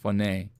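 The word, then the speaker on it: φωνή: h o any phone phoney that's how it's pronounced phoney it's interesting i never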